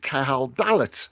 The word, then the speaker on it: Cahal Dallat: again by the poet Cahal Dallat. I've said that right, haven't I, Cahal? Yeah, perfect, Nick. Absolutely.